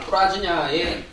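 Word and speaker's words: प्रज्ञा: 반야는 인도말 뿌라지냐의 중국식 발음입니다. 그죠?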